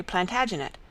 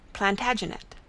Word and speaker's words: Plantagenet: The Latin name for broom is planta genista, and gradually it came to be pronounced Plantagenet.